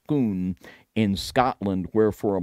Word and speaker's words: Scone: was then brought to scone pronounced schoon in Scotland where for